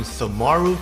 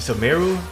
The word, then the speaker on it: Sumeru: So like I already mentioned, we're going to be talking about a 5-star character that coming out in Sumaru today. In Sumeru, I'm trying to pronounce it right.